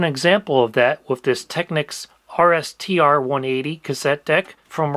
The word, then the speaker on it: Technics: And I have just such an example of that with this Technics RSTR 180 cassette deck from around 1996. Some people pronounce it Techniques, but regardless of how